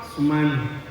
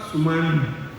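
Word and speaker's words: Sumana: So, Ma-na, not Sumani, not Sumani. So, Ma-na.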